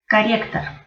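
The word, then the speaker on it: корректор: Corrector. Corrector. Lo único que cambia es que como ninguna de las O tiene acento, entonces se pronuncian como A.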